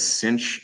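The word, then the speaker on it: sinh: an x coordinate and you pronounce these by the way as cinch and Kos typically if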